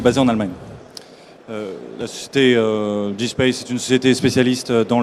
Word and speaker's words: dSPACE: Raphaël, vous êtes ingénieur d'affaires au sein de Dayspace. Alors, est-ce que vous sauriez, d'abord, est-ce que je le prononce bien? Oui, Dayspace, à l'anglaise.